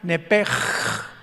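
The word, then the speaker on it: נפש: Los que quieran apuntarlo, la palabra alma en el hebreo es nepesh, con SH al final, como suena nepesh. Pero la SH en hebreo se pronuncia como J, entonces se pronuncia nepej, como el francés, ¿verdad? Que es gutural, nepej.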